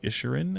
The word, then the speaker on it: Inisherin: talk about, I did see the Banshees of Inisherin, I think is how you say it, Inisherin.